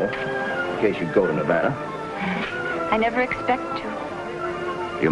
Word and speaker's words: Nevada: By the way, that's pronounced Nevada. I notice you give it the broad ah. I prefer it to a dreadful flat eh. Only the dreadful flat eh is correct.